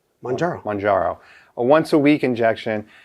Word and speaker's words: Mounjaro: Well, okay, just think of Mount Kilimanjaro. Okay. So forget the Mount Killa. Mounjaro.